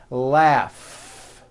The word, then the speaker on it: laugh: Notice the GH combination in that word, laugh.